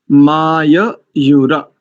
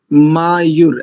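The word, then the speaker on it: माययुः: सम्राजो ये सुवृधो यज्ञ my your माययुर, ऐसा दोनों को पूरा पूरा करेंगे। मायूर ऐसा भी कर देते हैं कई लोग।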